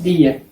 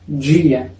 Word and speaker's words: dia: En algunas regiones que hablan portugués, la pronunciación es día, como en español. Pero en otras regiones, como acá donde vivo, la pronunciación correcta es dia.